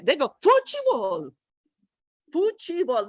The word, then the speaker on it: futebol: They turned it into 3 syllables, right? It doesn't go 4 because it ends with bol. It's like a U. Futebol, bol. Is that right? Yeah. Okay. So what they did is they added a fuchi, and the T changes to ch in Brazilian Portuguese.